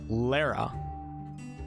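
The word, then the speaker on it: Leira: So Lyra, pronounced Lara, also known as the Lady of Deception or the Lady of the Mists, was a goddess of deception and illusions.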